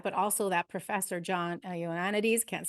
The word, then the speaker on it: Ioannidis: I don't know how to say his name Yeah, properly. He's Ioannidis, yeah.